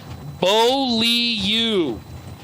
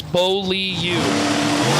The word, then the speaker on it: Boliu: Jerome Boliu just messaged me and said it is pronounced Boliu. We uh were trying to figure out the pronunciation of I originally I called it Ble and that was obviously horribly botched. My sincere apologies. It's Boliu.